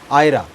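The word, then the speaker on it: Ira: उसको प्रोनाउंस अलग तरीके से वो करती हैं। आयरा तो उनका कहना है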